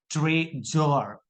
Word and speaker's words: treasure: In treasure, you can see there this saw is in between two vowel o and u. O and u. Look at o and u is there. So that's why it is pronounced treasure.